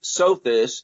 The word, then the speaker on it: Sothis: The Greeks called it Sothis, as in so this.